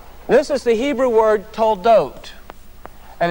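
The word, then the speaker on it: תולדות: Now this dot right here makes the O sound. This letter, we call this letter a vav. This letter is going to be a silent letter when you have the dot above it. And so in this case, in this word toldot, we have two of these letters, the vav.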